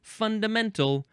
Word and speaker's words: fundament: The third form of fund is an abbreviation for the word fundamental which is coming up. Fundament. Now the emphasis is on the first syllable.